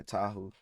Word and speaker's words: Tahu: Is it Toa? I forgot his name. I forgot how to say his name. I ain't going to lie. Tahu.